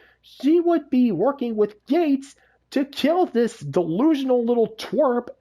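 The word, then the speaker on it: Geiz: resistance fire called gates uh g-e-i-z but it's pronounced gates because well uh uh iconography uh well symbolism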